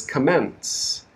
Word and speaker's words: commence: the first comments okay the second word is a verb is commence commence this means to start or to begin but many students confuse this and they stress the first word they stress it incorrectly so it sounds like the second word okay so word stress